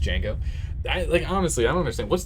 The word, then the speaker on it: Django: Like Django, the D is silent. It's not Django. Yeah, it's just Django.